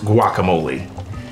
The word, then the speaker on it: guacamole: this strange guacamole nonsense well first off it's pronounced guacamole it's Spanish and it's not new the Aztec